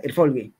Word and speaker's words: Erfolge: Me dice, bueno, éxitos, éxito sin S es Erfolg, o sea, acaba en G. Y éxito, Erfolge. Así se pronuncia, tal cual, Erfolge.